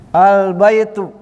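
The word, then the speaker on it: البيتُ: Sini kan ada albaitu. Nah, kita tulis kaidahnya di sini. Yuhzafu. yuhzafu atanwin ada penghapus Ah, lihat di sini. Perhatikan. yuhzafut tanwinuuli al tanwinnya dibuang ketika kemasukan al dibacanya albaitu kalau kemasukan alum kalau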